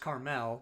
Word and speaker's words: Carmel: so like clint eastwood was the mayor of carmel california well but that's pronounced carmel but yeah same thing what would your guys's